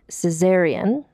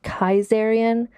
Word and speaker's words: Caesarion: The son was named Caesarion, or potentially it's pronounced Kaisarion, but basically it's a Greek name that means basically Caesar Jr.